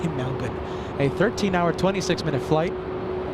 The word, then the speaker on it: Melbourne: flying in from Melbourne that's how the locals say it Melbourne Americans say Melbourne locals in Australia say Melbourne a 13h hour 26-minute